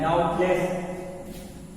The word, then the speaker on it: doubtless: Promising market, एक खरीदार, डाउटलेस, DOUBTLESS, डाउटलेस, बी नहीं पढ़ा जाएगा, साइलेंट, डाउटलेस।